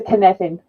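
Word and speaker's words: Cynefin: to do that I'm going to use the canevin model it's pronounced like Kevin within an in and really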